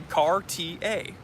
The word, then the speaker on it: Cartier: Cartier. Car as in automobile, TA as in TA? TA, teacher's assistant.